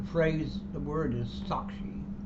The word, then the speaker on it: sākṣī: The witness must therefore become sakshi, the Sanskrit word meaning witness. Again, he mispronounced it. The phrase The word is sakshi.